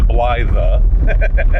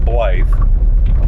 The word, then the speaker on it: Blythe: ble Cal blle California and no it's not pronounced bla even though it's even though it's spelled that way it's pronounced blly um so we're near that town and these